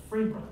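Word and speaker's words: Pherbia: Now, after that, we get into a lot of Arkansas country names in my family, but Phebra is spelled P-H-E-R-B-I-A, Phebra.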